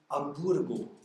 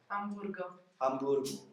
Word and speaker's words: Amburgo: But they don't pronounce the H, they say Hamburgo. Hamburgo.